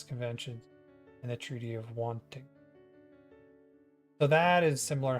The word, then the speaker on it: Waitangi: The Treaty of Altingang? Oh. We're gonna figure out what this is. Or how to say it. Waitangi.